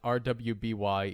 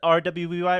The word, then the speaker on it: RWBY: like no it's not is it the rwby or ruby or i don't know you do pronounce it ruby but edgar how did